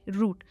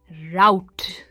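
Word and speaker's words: route: दोनों की प्रोनाउंसिएशन है रूट, पर आपने कई बार लोगों को कहते हुए सुना होगा राउट। ये जनरली अमेरिकन इंग्लिश में कहा जाता है राउट, पर इसकी सही प्रोनाउंसिएशन होगी रूट।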